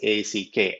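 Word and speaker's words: ஃ: special alphabet in tamil it's called ik it's a it it looks so beautiful um pronounced as a c k ack with a short sound right and so by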